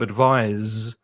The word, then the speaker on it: advise: put your hand here and you say the verb advise you should be able to feel vibration advise also here advise so there's a slight difference in the potential advise slight difference in the pronunciation i advise you and